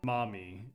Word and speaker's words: Mami: Play a take on them, and Mami is pronounced Mommy, actually.